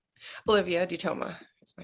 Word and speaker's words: DeToma: I'm asking everybody so what's your name Olivia dtoa is my name nice so you pronounce it dto yeah D okay good I